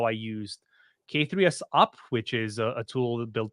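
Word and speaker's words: k3sup: So Is it pronounced K3S Up, Radu, or is it no, more it's ketchup?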